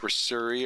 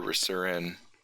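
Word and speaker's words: Risuri: Is it Rasuri or Rasurin? It's I have the pronunciation got up. It's Reser, and Reser rhymes with Fleecer, and Rasuri rhymes with Missouri.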